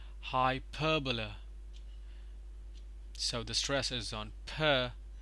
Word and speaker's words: hyperbola: on layer so here is a stress parallelogram hyperbola hyperbola so the stresses on per pronounced as hyperbola parabola parabola the stress is